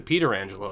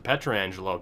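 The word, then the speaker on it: Pietrangelo: which I know he pronounced the Peter Angelo as opposed to Petra Angelo don't worry I know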